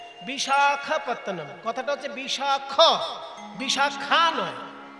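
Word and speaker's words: Visakhapatnam: বিশাখা, বিশাখা নয়, ক্ষয়ে আকার হবে না, শুধু খ। এবার যেহেতু সাউথ ইন্ডিয়া উচ্চারণ তো সেজন্য একটু অকারটা আকারের মতন শোনায় আর কি। বিশাখাপত্তনম, কথাটা হচ্ছে বিশাখ, বিশাখা নয়।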